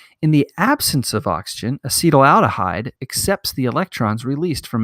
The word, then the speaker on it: acetaldehyde: to a molecule called acetaldehyde actually that's pronounced acetyl aldehyde and it releases bubbles